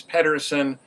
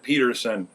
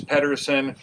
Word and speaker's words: Pedersen: consult the experts, it seems that the proper pronunciation is Pedersen. I grew up at a time when people said Peterson, and I have a tendency to revert back